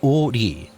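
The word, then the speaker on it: 오리: Its name derived from the fact that it stretches for 5 ri, pronounced o ri, which is equivalent to 2 kilometers.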